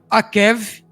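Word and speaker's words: עקב: igual aqui ó esta calcanhar que se pronuncia A Kev essas letras e a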